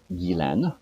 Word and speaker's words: Ghislaine: So it's Guylaine, okay, but it's Gyslaine. But what she does is she drops off the S in the middle because that really confuses people even in French.